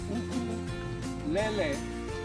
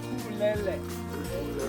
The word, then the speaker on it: ukulele: say it out loud, that four-string instrument Hawaii is known for is pronounced ukulele, not ukulele. Everybody say ukulele.